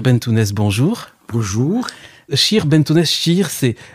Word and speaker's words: cheikh: bon jour pour jour scheer benneteau déchire c'est les français ont sont habitués aux mots chèque mais en fait on prononce scheer oui je ne me